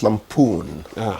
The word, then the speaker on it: lampoon: be lamp federal government is it lampon or lampon it's lampon the stresses on the second syllable yes lampon Lampoon yeah